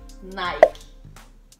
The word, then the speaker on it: Nike: Nike. Nike. Nike. Igual. Nike. Nike. Uhum. Às vezes as pessoas falam Nike. Nike. Nike. O stress é no último. Nike. Uhum. Mas é porque essa palavra é grego, eu acho.